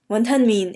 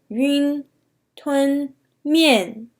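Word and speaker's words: 雲吞麵: And so remember that Cantonese wonton min, if you're going to say it properly as a Hong Kong dish. If we want to talk about it in a Mandarin kind of pronunciation, it would be this, yun tun mian. Yun tun mian. So you wouldn't say the wonton part, unlike the Cantonese pronunciation.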